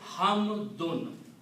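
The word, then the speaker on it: حمدٌ: They are called dhammatan, and they have the sound of noon. So the word is hamdun.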